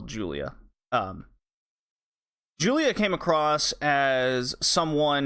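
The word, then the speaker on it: Giulia: spelled giu Li a I'm pretty sure it's not pronounced ghoulia and it's just a different way to spell Julia Julia came across as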